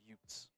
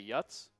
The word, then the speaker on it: Utes: Just as dad says, uh, it's pronounced utes. Utes. That's what I think I'm saying. Or what did I say? You say yuts. I don't think I said ys. I think I said utes.